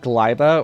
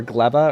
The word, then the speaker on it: Gleba: But we also pronounce it Glyba or Gleba or Gleba. We have fun with the pronunciations in this mod.